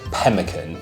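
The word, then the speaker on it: pemmican: so course one was pemin not Pelican as some people think I've been pronouncing all week Captain Scott describes his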